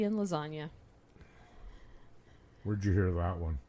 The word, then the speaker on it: lasagna: Well, because otherwise it would be lasagna. Lasagna. So you do kind of pronounce the G in a funky, weird way.